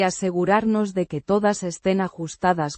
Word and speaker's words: asegurarnos: asegurarnos. The first person plural form of the verb. Asegurar. Meaning, to ensure, or, to make sure. Pronounced. Asegurarnos. With emphasis on the second syllable and a soft R.